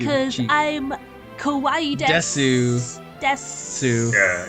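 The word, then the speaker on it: です: I'm kawaii desu. Sue. Yeah, you don't say the ooh. Sue. Desu.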